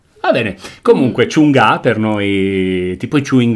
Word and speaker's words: Chungha: come scusi CHUNGHA LEI quindi non si legge la g CHUNHA va bene comunque CIUNGA per noi tipo i